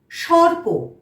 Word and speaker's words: সর্প: দন্ত স পয় রেফ, সর্প। পয়ের মাথায় রেফ আছে, আমরা তার আগে র উচ্চারণ করলাম, তাহলে কি হলো?